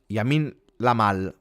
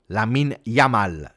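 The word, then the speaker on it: Lamine Yamal: with Colombia 31st appearance and yeah I mean Yamin lamal oh I can't say his name lamin yamal nicoo Williams Marino oh marata for niiko Williams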